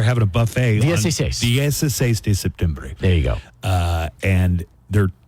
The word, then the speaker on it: septiembre: How do you pronounce September in Spanish? Septembre. I always thought it was septiembre. Yeah, good job, Steve. Yeah, septiembre.